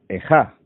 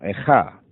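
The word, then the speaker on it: איכה: comienza con la palabra ejá, y así se pronuncia en hebreo, que como es sabido,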